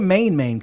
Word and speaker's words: MainMain: Oh, see, I'm actually reading it the way you spelling it, but it's actually MainMain. I'm pronouncing it wrong then.